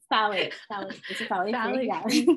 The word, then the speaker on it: phthalate: know how to pronounce PHTH, how do you pronounce? Phthalate fragrances.